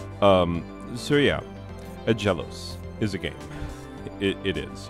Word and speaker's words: Aggelos: having feelings about it so a jealous which is how i'm going to pronounce it i know that other people have pronounced it different ways and you know what they can feel about it however they want i know that it's pronounced a jealous anyway uh based on simple phonetic rules um so yeah a